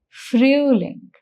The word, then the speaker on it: Frühling: Mark the sound of O umlaut here. That is, the sound is Ü. So the pronunciation becomes Frühling.